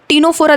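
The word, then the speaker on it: Ctenophora: है सिलेंट्र टीनो फोरा टीनो फोरा देखो ये भी सी से ही स्टार्ट होता है लेकिन यहां पे सी साइलेंट होता है ठीक है ना इसलिए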